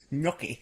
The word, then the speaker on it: gnocchi: Gnocchi. It's Gnocchi. yeah, pronounced. gnocchi. Gnocchi. Well, let's not do the script as a commentary. Gnocchi's the correct pronunciation.